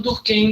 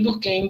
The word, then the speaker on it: Durkheim: né forma mais forte a pronúncia vai virando Durkheim Durkheim do que é daí vocês escolhi uma promessa que vocês mais gostam nenhuma das duas estão erradas tá então do que